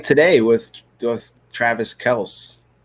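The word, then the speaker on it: Kelce: clip today of him saying no it's actually kels like what they do needs life because i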